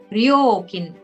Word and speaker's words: 料金: And for fee, charge, or fare is 料金、 ryokin.